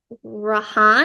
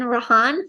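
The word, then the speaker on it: Rhian: that vampire okay is rahan I think that's how you say it r i a n rahan um he he's the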